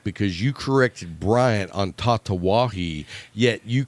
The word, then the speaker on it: Tatuaje: But Big Adam up in Boston, said, I laughed my ass off because you corrected Bryant on Tatawahi, yet you called the cigar sizes Vitola, which is just Vitola.